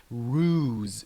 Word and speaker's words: ruse: intended to harm someone pay attention to the pronunciation of this word it pronounce it ruse ruse might be tough to